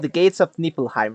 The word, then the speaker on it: Niflheim: right yeah it's easier to say it's a nilheim it's just nilheim so anyways if you it's a it's very